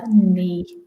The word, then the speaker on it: knee: So we have G now, and G is knee. Great. Yeah, so this part of the body. Yeah. Okay. And like I said, the most important thing about the knee is the pronunciation and the silent K that we talked about already.